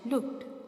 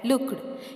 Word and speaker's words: looked: Here I have read the words switched and looked. Children, don't pronounce like switched and looked. Here ch and k sounds. These are consonant voiceless sounds. So the ed ending sounds like t.